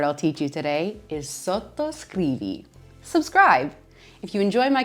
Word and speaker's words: sottoscrivi: Maybe the most important word I'll teach you today is sottoscrivi. Subscribe. If you enjoy my content and you want to know more about Italian cooking, make sure you're hitting the subscribe button down below. Sottoscrivi.